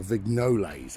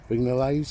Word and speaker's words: Vignoles: This is a grade 2 listed building, built in 1839 by I think you pronounce it Charles Blacker Vignoles. I think that's how you say it, Vignoles or something like that.